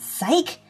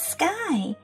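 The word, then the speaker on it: Skye: Her name's not Psyche, it's Sky. S-K-Y-E.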